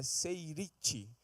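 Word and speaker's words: שארית: Lá do hebraico, a pronúncia é seirite.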